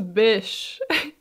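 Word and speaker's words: Bysshe: and Percy Shelly whose middle name is conveniently pronounced as Bish and I mean so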